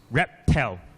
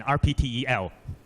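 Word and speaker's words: RPTEL: behind our succeed journal rep tell research and practice intelligence learning sorry another acronym you need to pronounce it as rep tell rather than RP te l yeah so rep tell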